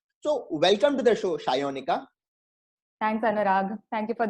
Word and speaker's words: Sayanika: So the name, if you pronounce it, it is Sayonika, but a typical Bengali name will always be pronounced differently from what it appears from the spelling. So it's not Sayonika, it's Shayonika.